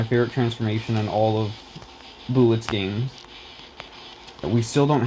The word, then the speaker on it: Boolit: way like equally as much and then finally bullet added um not finally but last but not